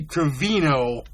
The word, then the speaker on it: Gravino: very thrilled that I had to work on pronouncing his last name correctly the last week after I goofed it up talking to Andy 4 times. It's Gravino.